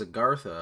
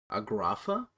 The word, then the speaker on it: Agartha: to a giant tree i mean it says agartha a bunch and it's spelled agartha i can't say i've ever heard anyone pronounce it agrapha agrotha i don't know what he said but it wasn't right but you know if